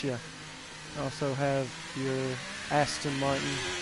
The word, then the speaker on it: Aston Martin: had something to fix I was pronouncing uh you know this car with an H in the name and I apologize it is Aston Martin and I was saying Ashton Martin so it is Aston